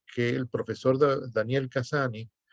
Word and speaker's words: Cassany: el profesor de daniel cassany o casaña como se pronuncia en catalán pone en su libro